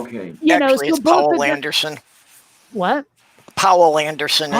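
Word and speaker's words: Poul: i'm pronouncing this correctly paul anderson but it's spelled p-o-u-l for some reason i think it's pronounced paul yeah oh okay yeah please paul what powell anderson is how i've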